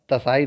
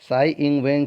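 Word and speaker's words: Tsai Ing-wen: यस, साई इंग, तसाई नहीं पढ़ा जाता, टी साइलेंट होता है। साई इंग वेन चीन की, साई इंग वेन कामा चीन की एक देश दो सिस्टम का खुलकर विरोध करती।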